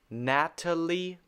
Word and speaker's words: Natalie: Natalie. This is not ta. Natalie Portman. Natalie Portman. And a lot of people will say Natalie Portman, to say it very quickly, Natalie Portman. But it should be Natalie Portman.